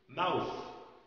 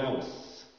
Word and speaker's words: mouth: كلمة mouth، mouth this is my mouth. تخيل لو قلت انت this is my mouse، mouse يعني ايه؟ يعني فار.